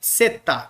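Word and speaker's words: ζῆτα: bom pro nosso curso Então a gente vai chamar de seta seta seta seta beleza como na palavra Edson ó Edson DS é o que vamos escolher tá bom na transliteração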